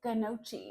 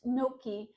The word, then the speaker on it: gnocchi: and it looks like gnocchi if you look at it on a menu in a restaurant, but it's pronounced gnocchi like you've forgotten your key to get in and you have no key.